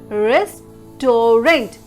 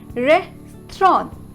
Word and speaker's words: restaurant: and mostly the people make mistake here as risk torrent why because of the spelling how let me